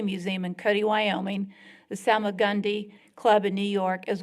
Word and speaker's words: Salmagundi: He is the founder and curator of American Masters, an annual art exhibition and sale at Salmaguda. How do you say it? Salmagundi. Salmagundi, be corrected here.